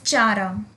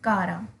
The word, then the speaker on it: Chara: अब आप इसे some people pronounce it as chara. This is not chara. This is kara.